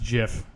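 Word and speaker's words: GIF: nice I don't know it's actually pronounced jiff just in case you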